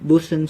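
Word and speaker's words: boatswain: by a boat swing it is pronounced and sometimes spelled boson skull a pipes consists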